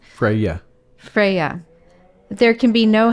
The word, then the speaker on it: Freya: Freya.